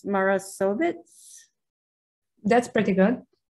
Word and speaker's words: Marasović: I'm going to guess that it's Marasović. That's pretty good. How do you say it? Marasović with ch in the Marasović.